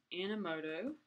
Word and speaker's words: Animoto: I'm going to do a new post, and this one is going to be called Animoto, and it's Animoto, A-N-I-M-O-T-O. Some people sometimes will misspell it, and it's not Animoto.